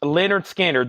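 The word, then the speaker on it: Lynyrd Skynyrd: is a new pre-order Leonard skinnard this is pronounced Leonard skinnard this is a pre-order on this puzzle now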